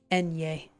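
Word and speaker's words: eñe: Enye.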